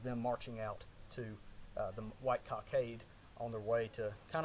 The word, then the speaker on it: White Cockade: the british uh played the white cockade or white kakad however you don't pronounce it but i think white cockade is usually how we say it anyhow uh there may